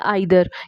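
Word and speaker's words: either: नॉर के साथ, या ईदर और के साथ। या तो आप इनको नाइदर बोल सकते हैं या आइदर, या नीदर या ईदर, दोनों ही प्रोनाउंसिएशंस इसकी करेक्ट हैं।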